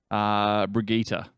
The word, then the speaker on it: Brigitte: Brigitte. Brigitte. Yeah. There it is. It basically looks like her name's spelled like Bridget, but it's not pronounced Bridget because I think she's Swedish.